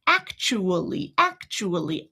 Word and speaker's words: actually: Actually. 4 very clear, very distinct syllables, right? But what if I take that schwa away? Like we said, we can toss it out the window. Then I've got the exact same thing minus the schwa. Actually. We don't have a consonant blend here because we had 2 vowels originally.